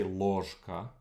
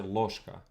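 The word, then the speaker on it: ложка: a lot of times the ge gets reduced right you don't say lorzka you say loshka so that would make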